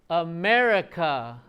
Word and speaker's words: America: What is in America? Which one is the strong syllable? So, aa America. What's the strong syllable? May. Yeah. So, we're going to practice that just like what song, what sound goes up, what gets louder, and you'll hear it go down, right? So, America. I mean, I don't always say it like America.